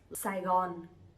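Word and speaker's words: Sài Gòn: to speak differently but we pronounce we all pronounce them saigon saigon sai gon is the old name of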